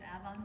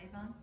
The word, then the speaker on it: Avon: And it was always pronounced Avon, not Avon?